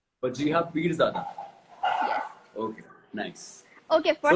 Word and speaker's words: Wajeeha Peerzada: How do I pronounce your name? वजीहा पीरज़ादा. Wajiha Peerzada.